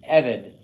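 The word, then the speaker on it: עבד: It acts on the first syllable. Repeat after me, Evid.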